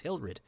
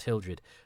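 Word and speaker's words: Hilred: think he's Hildred in the book, but he's Hilrid here. And I thought for a while it was just George Pravda, his pronunciation, his issue for him. But it's in the credits. He's Hilrid, not Hildred.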